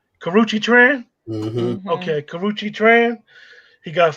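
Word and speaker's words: Karrueche: incident with the other girl who I can't pronounce her first name. Last name is Tran. Karuchi. Karuchi Tran? Mm-hmm. Mm-hmm. Okay, Karuchi Tran.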